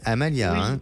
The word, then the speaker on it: Amalia: Est-ce que je prononce bien le prénom ? C'est bien Amalia, D'accord.